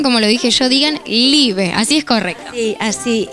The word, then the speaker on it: Liebe: Y antes de contarme qué ofreces, quiero saber por qué se llama Live, qué significa.